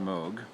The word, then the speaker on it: Moog: made by mode which is spelled Moog but pronounced mode it's part analog in part digital so the